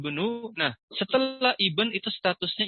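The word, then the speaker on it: ابن: Hamzahnya tidak dibaca. Yaitu huwa Yazidu benu.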